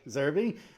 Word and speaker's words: Zerbe: Now, I think, you know, one of the things, Anthony, I think his last name is Zerbe. Am I pronouncing that right? Zerbe.